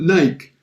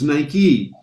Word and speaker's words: Nike: us in north america we would have called it nike because it because it looks like like right or mike but it's nike after a while they